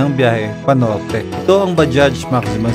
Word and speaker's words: Bajaj: Yung pronunciation pala niya dapat is Bajaj. Bajaj talaga. Kasi ako, lagi akong mali ako dun eh. Bajaj. Bajaj lang ako, silent G.